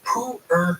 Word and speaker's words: pu'er: How do you pronounce this? This is called pu'er tea.